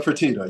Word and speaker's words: Fertitta: Please don't hold it to me if I'm not pronouncing his last name correctly. Yeah, Tillman Fertitta.